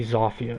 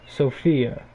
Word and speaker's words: Zofia: like you right now because you say zoffie oh just because she's polish doesn't mean that you have to pronounce it like you're in Poland you pronounce it how you would pronounce Sophia okay but she has